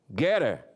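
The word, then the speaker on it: Gettr: Getter, para ser a pronúncia em inglês correto, criada por Jason Miller, ex-assessor do presidente Donald Trump.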